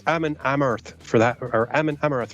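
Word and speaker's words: Amon Amarth: It's Ammon Amarth for that, or Ammon Amarth for that girl.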